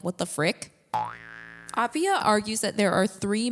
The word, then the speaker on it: Appiah: I also want to mention that in the last episode of this podcast I said aaya instead of aia. It's pronounced aia so I guess I wasn't listening that well